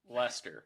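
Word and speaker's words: Leicester: s t r t e r all right pronounce that word please lter WR leer leester Lester Lester Lester sure Lester makes sense Lester Lester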